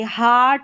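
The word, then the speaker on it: heart: अब यहाँ पर देखिए एक और उच्चारण है EA का, आ करके, आ करके, हार्ट, हार्ट और हार्कन।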